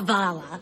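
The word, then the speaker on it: hvala: You're supposed to go, Vala, like that.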